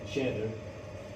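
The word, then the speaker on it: tjäder: Uh, so I think capi in g of the woods, it in Swedish it's called cheddar, which has no meaning at all.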